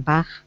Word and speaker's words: bag: And Adela, when you're pronouncing that word, B-A-G. It's bagged with a g sound and not a k sound, okay?